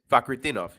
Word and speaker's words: Fakhretdinov: Yeah, it is Fakhretdinov. Yeah. All right, Fakhretdinov -150.